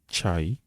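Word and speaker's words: çay: Ensuite, nous avons le CCD qui se prononce en turc, tche. Le CCD se prononce tche, qui est une lettre à part entière de l'alphabet turc. Exemple, chai, le thé, cho, juk, l'enfant, chanta, le sac.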